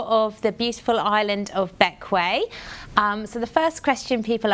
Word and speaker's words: Bequia: a whistle-stop tour of the beautiful island of Bequia. So, the first question people ask, other than how to pronounce it, so despite being spelled like the queer, it's actually pronounced Bequia.